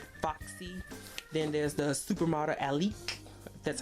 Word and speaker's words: Alek: Then there's the supermodel Alek. That's how you pronounce her name.